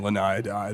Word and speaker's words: Laniidae: while they're there, and it's called a Laniidae or a Laniidae or however the hell you want to pronounce it. Laniidae is like the It's- official pronunciation, but Yeah.